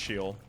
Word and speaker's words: Sheol: I'm aware it's pronounced Sheol, by the way.